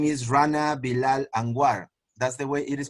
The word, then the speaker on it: Rana Bilal: years ago in colombia and his name is rana bilal that's the way it is pronounced yeah that's how it is yeah uh